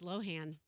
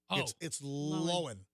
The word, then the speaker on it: Lohan: lohan or lindsay lohan what is the proper way to say lindsay l-o-h-a-n's name it's proper way i've always thought it was low hand it's not hmm no you you got to say it without moving your jaws like lindsay lowell like that no it's not it's it's lowen so uh lindsay lohan